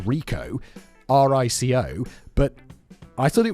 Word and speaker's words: RICO: It was your run-of-the-mill RICO trial for massive, widespread bribery of public officials and consultants. I'm not exactly sure what RICO is. I've heard of it, and I know it's pronounced RICO, R-I-C-O, but I thought it was to do